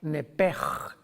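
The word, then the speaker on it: נפש: La palabra vida en Levítico 11:17, si no me equivoco, es la palabra nepej, que se escribe nepesh en el hebreo, que es la traducción que se usa para designar el alma humana.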